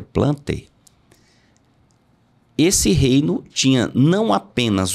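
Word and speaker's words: Plantae: reino metafita ou plante você escreve plantai mas eu creio que a pronúncia seja plante esse reino tinha não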